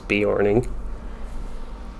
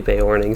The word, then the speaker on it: Beorning: horning i always called the bae morning as beorning but i think it's supposed to be bay warning so i try to actually call it by